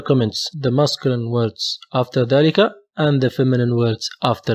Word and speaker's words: ذلك: In ذلك also we have a hidden a. ذلك. We pronounce it ذلك. Not ذلك. ذلك.